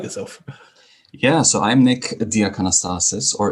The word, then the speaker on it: Diakanastasis: yeah so I'm Nick diastasis or anastasis if you want to pronounce it the Greek way I'm a half Greek